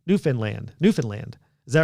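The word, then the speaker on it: Newfoundland: Lynn so it RH it rhymes with understand New Finland New Finland New Finland is that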